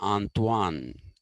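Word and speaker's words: Antoine: n e d t e antoanet it is pronounced okay if it is a man it'll be antoan a n t o i n if it's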